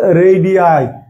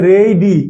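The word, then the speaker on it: radii: হচ্ছে এর প্ল হচ্ছে রেডি অনেকে রেডি বলে কিন্তু উচ্চারণ হবে এইযে এখানের উচ্চারণ হবে এই আমরা এবি বলি কিন্তু আসলে এইবি তাহলে রেইডি এইযে রেইডি এই উচ্চারণ আইটা আলাদাভাবে উচ্চারণ হবে রেডি আই যেমন দেখেন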